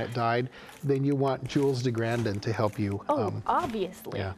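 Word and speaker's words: Jules de Grandin: um his hero is is a character named name Jules de grandon or pronounce himself je de grandon because he's French of course of course the most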